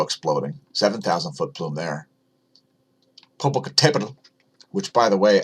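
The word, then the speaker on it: Popocatépetl: 7,000 foot plume there Popocatepetl which by the way I'm pretty sure it's pronounced Popocatepetl you can see that accent on the letter e there meaning that accent should be on that letter so it should be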